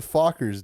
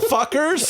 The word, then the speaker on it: Fockers: fuckers. Is that it? Dylan, What? say it. What? The proper Say the pronunciation. thing. Meet the Fockers, dude. Little fuckers.